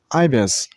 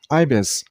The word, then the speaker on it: ibis: Stress on the first syllable, I mean on I sound, so ibis, ibis.